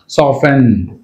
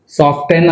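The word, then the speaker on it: soften: సాఫెన్, సాఫ్టెన్ అనకూడదు, సాఫ్టెన్ is wrong, సాఫెన్, right.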